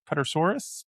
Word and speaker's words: Pterosaurus: I'm not even going to attempt to pronounce the Pter Pter Pterosaurus Pterosaurus Pterosaurus Pter Pter I don't know. Silent. The P is silent.